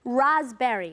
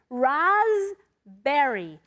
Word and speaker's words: raspberry: Raspberry. What's important about raspberries? On the one hand, you don't ever pronounce the P. It's a silent P. Raspberry, raspberry, okay?